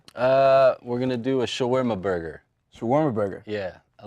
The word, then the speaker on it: shawarma: I've always wanted to know this because I've heard shawarma before. First of all, that's how it's pronounced. Shawarma.